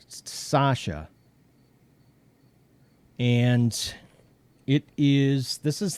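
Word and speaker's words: Sachse: the scen cut and it is pronounced it's pronounced sasha and it is this is the knife that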